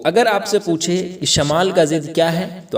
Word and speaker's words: شمال: ایک ہوتا ہے شمال، ہم لوگ تلفظ میں شمال پڑھتے ہیں، شمال نہیں ہے بلکہ شمال ہے، شین کے اوپر زبر کے ساتھ۔ اور ایک ہے جنوب۔ تو شمال ہم کسے کہتے ہیں؟